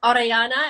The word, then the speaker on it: Orellana: you're like it's pronounced orellana and you have to roll your arms paul you know in new zealand we roll that r so you know not everyone can but it's like ariana so it sounds very